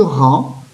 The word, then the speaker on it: rang: uns derrière les autres à la fin de rang je vois la lettre g mais elle est muette on dit par hand